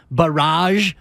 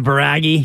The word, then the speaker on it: barrage: put up a 44-26 barrage and that game was settled at that point is that the French pronunciation kind of yeah as opposed to baragi yeah exactly